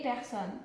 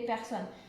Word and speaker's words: personnes: personne féminin pluriel les personnes donc on voit à la fin en mai un ace le s les personnes le s ne se prononce pas pour ça j'ai souligné